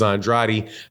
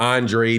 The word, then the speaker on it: Andrade: to Canelo Alvarez and Demetrius Andrade however or Andre depending on how you pronounce it but you know